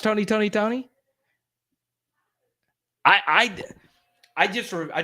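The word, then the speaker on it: Tony! Toni! Toné!: tone uh oakland california from 1986 to 1997 tony tony tone okay r b group dwayne wiggins timothy christian riley and raphael sadiq there we go is it is it still oh it's still pronounced tony tony tony i i i just i just remember seeing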